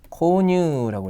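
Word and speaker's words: 購入: 그 다음에 구입했다가 있죠 구입은 어떻게 읽어요 코뉴라고 했죠 권유시다라고 되어 있습니다 제도할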